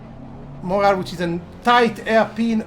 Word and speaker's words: Montreal: Montreal, which people call Montreal, but the T is not pronounced. Montreal, which is a tight hairpin onto Palmer.